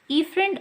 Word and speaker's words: efferent: the efferent arteriole efferent okay it's it pronounced with the e efferent arteriole then goes down